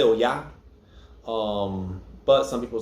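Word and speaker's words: Oya: sound like o-j-a or ja or um so oh yeah emphasis on the hey um also some people will say you know yeah most people say oh yeah um but some people say oh it's your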